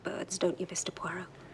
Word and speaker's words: Poirot: Po. No, no, no. Puero. It is pronounced Puero.